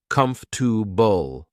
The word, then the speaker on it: comfortable: more natural another example is comfortable which is pronounced com to Bull practicing each part helps you focus on the